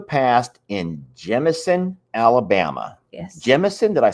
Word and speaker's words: Jemison: Jemison, did I say it right? Yes. Jemison.